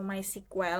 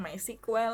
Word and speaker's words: MySQL: atau teman-teman pernah denger my SQL ya atau my sequel ada yang bilang my sekuel ada yang bilang MySQL tapi dulu waktu saya di S1 saya Bilangnya sih my SQL gitu Jadi mungkin saya pengucapannya untuk ini SQL aja kali ya Jadi kalau misalnya teman-teman